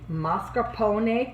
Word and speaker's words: mascarpone: going to add the mascarpone cream say with me ma scarpone is pronounced a in italian and a is pronounced ah all right now i'm